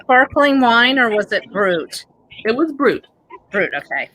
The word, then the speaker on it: brut: The word brut, B-R-U-T, which is that pronounced brut or brew? Brut.